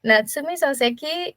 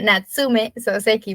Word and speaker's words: Natsume Soseki: grupo Pues bien eh natsumi soseki es bueno natsume soseki porque yo tengo la costumbre de pronunciarlo con i y mi esposo que es japonés siempre me corrige él e nació en